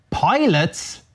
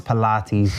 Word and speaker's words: Pilates: Favorite pastime is pilots. What the hell is Nah, I know it's Pilates. Jesus, all right. Jesus, I knew that. Right? If you thought I couldn't pronounce Pilates. Although it should be called pilots. The way it's written.